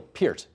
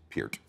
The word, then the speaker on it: Peart: I said Neil Peart. Correct. And I know there's a bunch of people watching right now who think I mispronounced. No, trust me, it is Peart.